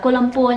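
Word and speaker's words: Kuala Lumpur: sang Mai xe đầy kiểu đọc là cô Lumpur nha Cái ấn tượng của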